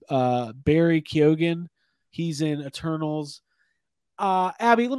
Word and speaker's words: Barry Keoghan: It's Barry Keoghan.